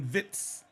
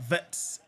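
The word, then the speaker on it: Wirtz: He said my name is Floren Vitz, not Vets.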